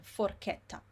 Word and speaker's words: forchetta: CHI is always chi, CHE is always che, like in forchetta.